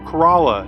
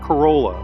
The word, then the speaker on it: Corolla: kerala now bonus tip i said kerala not corolla and if you've been